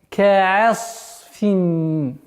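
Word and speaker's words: كعصف: Одна из самых распространенных ошибок – это когда огласовка фатха над айном аннулируется. На это нужно обращать внимание. Фаджа'алахум ка'ас. Звук айн – мягкий звук. Нужно договаривать до конца мягким произношением с фатхой. Ка'а. Потом уходить на твердый звук сад.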